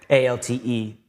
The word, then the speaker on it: Alte: A-L-T-E. E, but they make it look like an A. Yeah. But then you pronounce it like an A.